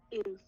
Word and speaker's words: ils: You don't hear the S because in French that last consonant's not pronounced unless the next word starts with a vowel, or unless it's a C or F or L.